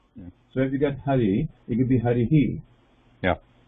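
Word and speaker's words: हरिः: It's a very light sound.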